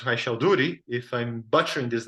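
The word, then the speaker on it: Raychaudhuri: I understand that this equation was discovered independently by Landau, and I was told this name is pronounced Raishalduri.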